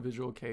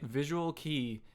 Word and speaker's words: visual kei: I would never know what visual kei is if it weren't for you. I would still be calling it visual key if if it weren't for you guys.